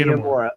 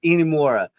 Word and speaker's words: Inamura: Just say Inamura. Inamura.